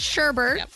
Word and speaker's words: sherbet: Posh very close orange sherbet I don't know is that how you say it yeah yeah you know there's no R in there though it's one of those